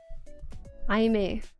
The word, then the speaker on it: Aimer: Aime. On Aime. Yeah, see, I was gonna say Aimer, but I learned that it's pronounced Aime.